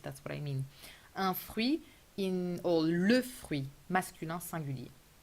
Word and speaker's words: fruit: Fruit written like in English, but we do pronounce the I and we do not pronounce the final T.